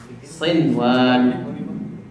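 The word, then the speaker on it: صِنْوَان: Kecuali di dalam satu kata, maka jangan diidghamkan seperti dunia dan juga sinwan.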